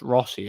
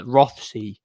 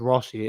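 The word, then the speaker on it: Rothesay: um it's spelled Roth rothy that but it's pronounced Rossy I don't know why but yeah rothy but it's pronounced Rossy it's it's an island in Scotland it's near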